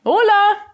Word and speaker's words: hola: give it a try hola it starts with an H but you don't pronounce that in Spanish there are 21 different